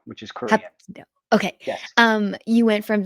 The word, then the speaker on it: Hapkido: I can't pronounce. It's Hapkido, which is Korean. Hapkido.